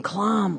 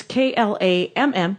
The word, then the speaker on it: Klamm: in my living room with one Klamm.